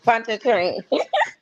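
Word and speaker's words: Pontchartrain: Panchana. Pont train.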